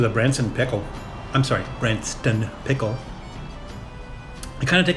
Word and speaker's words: Branston: sardines and the uh Branson pickle I apologize I was saying it wrong that's Branston pickled with tea I will